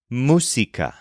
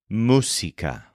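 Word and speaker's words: música: the word for music is Musa spelled m u s i c a with an accent over the U Musa for example do you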